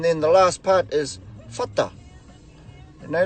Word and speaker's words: whata: And then the last part is whata. You know, like you pronounce the WH like how you pronounce the word phone or telephone.